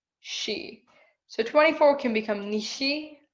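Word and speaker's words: 四: word for for and the word for death have in japanese have basically the same pronunciation she so 24 can become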